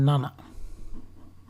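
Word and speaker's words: なな: এরকম এটা হচ্ছে 7-এর কাঞ্জি, এটাকে বলা হয় নানা। নানা অথবা সিচি উচ্চারণ করে, সিচি।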